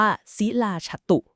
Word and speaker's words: ศิลาจาตุ: ครับ ใช่ ค่ะ คือ คำ ว่า ศิลาจาตุ อ่าน ว่า ศิลาฉตุ สิลาฉตุ ค่ะ